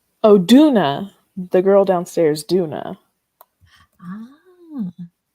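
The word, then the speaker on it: Doona: Duna the girl downstairs Duna oh Duna like do I said do d o o n a Duna is that like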